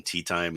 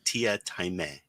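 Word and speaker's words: Teatime: character in there called he calls himself tia taimei but it's spelled tea time so people keep calling him tea time he's like no it's tia taimei and it's the funniest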